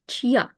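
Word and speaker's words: чья: for example for example in the in the word Chia which means who's like Chia Mach whose card that is so soft sign adds a little pause here to pronounce y in full so CH is already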